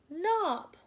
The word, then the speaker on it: knob: So when we have an N sound at the beginning of some words, it's going to have this silent K and say N, A, B, knob.